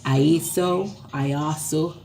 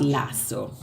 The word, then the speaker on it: IASO: Now, the Iosity, some persons calling it IASO, but not Lasso. It's not Lasso tea. It is IASO.